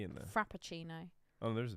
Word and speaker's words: Frappuccino: I'm going to try and pronounce this. Fuppuccino? like cappuccino, but with an F. Well, there's no P in there. Frappuccino.